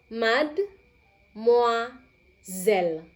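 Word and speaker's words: mademoiselle: Yang pertama adalah kalian bisa lihat di sini ya, tulisannya seperti apa, bacanya seperti apa, diperhatikan. Repetap premoa, mad moa zel.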